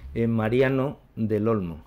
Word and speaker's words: Mariano del Olmo: Alors, professeur, comment vous prononcez votre nom concrètement dans votre langue? Mariano del Olmo. D'accord. C'est en espagnol? Oui. En espagnol.